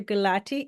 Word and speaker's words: Gulati: Gulati is a cardiologist. And correct me if I'm mispronouncing your name, please.